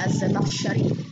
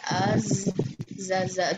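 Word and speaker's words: الزمخشري: Kalian baca bahasa Arabnya, ya, misalnya Az-Zamakhsyari, jangan kalian baca Az-Zaza gitu ya, kayak orang yang baru bisa baca Arab, Latin gitu.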